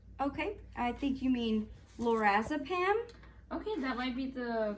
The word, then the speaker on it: lorazepam: and then i take this other medication called laura zip pam um it's a sedative for seizures and it treats seizures so okay i think you mean lorazepam okay that might be the correct way to